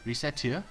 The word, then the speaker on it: Recettear: Recettear. Ho! Recettear. Mispronounce it even slightly and... Racketeer? Racket? Okay, so... I guess it's Recettear? According to them.